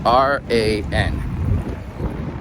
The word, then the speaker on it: Ran: it for you first, R-A-N. In Japanese you don't pronounce R's like R, but more like a L kind of sound. So it's Ran.